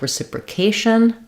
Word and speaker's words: reciprocation: So one thing to watch out for is if we have something like reciprocation, an Asian word will be stressed on the A.